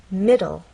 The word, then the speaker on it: middle: We'll also look at words like middle. Middle. This word has two syllables. M. And the stress is actually on the first part. It ends in an e, but the final sound is an l sound.